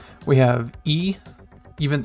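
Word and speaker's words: い: So we have a, we have e, even it's the letter, in Romanji it's spelled I, but it's pronounced like the letter E.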